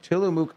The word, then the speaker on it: Tillamook: Tillamook ice cream bars or scoopable ice cream.